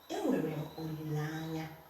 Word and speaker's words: Olilanya: Olilanya. Hope. I have hope. I'm hoping for something. Olilanya. Olilenya. Olilanya. Olilanya. Olilenya. Normally, this two becomes la, lanya.